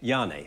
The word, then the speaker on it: Janne: How do you pronounce it? I'm sorry. Janne.